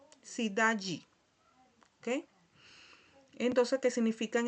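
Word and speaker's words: cidade: Aquí tenemos otro ejemplo, ¿verdad?, de la palabra sidaji. Sidaji. Cuando tenemos este sonido aquí, eh, la d con la e, ¿verdad? Se pronuncia al final como si fuera un y si da yi.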